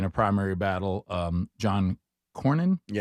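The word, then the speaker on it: Cornyn: John Cornin.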